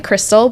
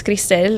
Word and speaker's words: Cristell: And uh I just have people call me Crystal, but if it's in Spanish, it's Crystal.